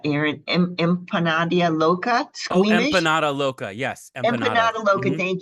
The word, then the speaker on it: Empanada Loca: How do you pronounce that, Aaron? Empanada Loca? Squeamish? Oh, Empanada Loca.